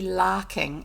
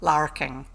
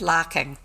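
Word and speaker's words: larking: playing joking around but because of the way the English say their their words they are as a long a sound it doesn't the A and R together is a long a sound as opposed to a North American Lara king or that Ur So it's lacking locking around whip boggit as if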